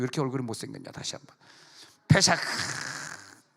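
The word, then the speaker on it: פסח: 근데 그 페샤크 파쉐크 그렇게 발음하는데, 이 페샤크라고 하는 발음은 넘어갔다. 다시 한번 페샤크 시작. 페샤크 할 때 독일어 하듯이 박 하듯이 이렇게 하는 거예요.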